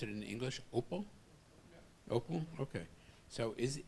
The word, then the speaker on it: Oppo: So how would you pronounce it in English? Oppo?